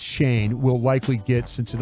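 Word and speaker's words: Schoen: Is it Shane or Shine? Shane. I think it's Shane. It's spelled like Shane. Shane. Yeah, it's Shane.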